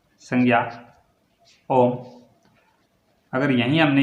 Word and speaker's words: ओम: ओम किसी का नाम है, संज्ञा ओम। अगर यहीं हमने ये बोल दिया ओम, तो इसको कैसे बोलेंगे? ओम। ये क्या है? ओम। ये क्या है? ओम। एक लंबा उच्चारण हो रहा है ओ में, ओ में क्या हो रहा है?